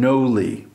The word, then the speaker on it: Gnowly: to Rebrand this site it's going to become Noli and Noli the word the way it's spelled is deliberate it is uh an indication